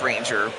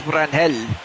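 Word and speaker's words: Ranger Suárez: Okay, so it is pronounced Ranger. I thought it was Ranel.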